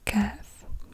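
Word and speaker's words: كاف: in the throat cough then we have the calf CF and this is like a K in English CF and this is also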